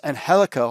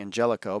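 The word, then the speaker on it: Angélico: We get Cody Rhodes versus Angelico. I kept always saying Angelico, but it's Angelico as they pronounce it.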